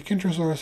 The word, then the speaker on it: Kentrosaurus: However, not only are the names Kentrosaurus and Centrosaurus spelled differently, they are pronounced differently, with the Kentrosaurus having a kicking K, while Centrosaurus has a soft C pronounced more like an S.